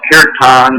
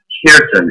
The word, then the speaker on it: Kirtan: Yeah, Kirtan, sometimes it's mispronounced Kirtan or whatever, but really in Hindi it's pronounced Kirtan. It's K-I-R-T-A-N.